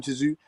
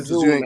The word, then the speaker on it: Tszyu: Not Tim Tszyu, Tszyu, man. Goucher gave Tim Tszyu problems. The T is silent, man.